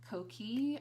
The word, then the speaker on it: Coquille: Next was the Stila Stay All Day Magnificent lipstick in the shade Coquille, I think is how you guys told me to pronounce it.